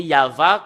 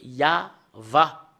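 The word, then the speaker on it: יהוה: la Sainte Écriture hébreu c'est yava qu'on le prononce et vous pouvez pas le faire une discussion et contredire que c'est yava voilà l'original de cette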